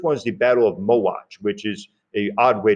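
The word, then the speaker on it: Mohács: empire the first one is the battle of mo watch which is a odd way to spell that word but that's how it is pronounced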